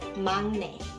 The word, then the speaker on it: 막내: Then you can say, oh, she is the 막내 of our family. And I know it is written as 막내, but you pronounce it as 막내.